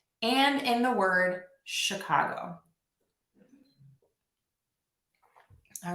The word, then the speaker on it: Chicago: Just want to give you a little word of caution that the letters ch can also be pronounced as k or sh. And we see this in the word stomach and in the word Chicago.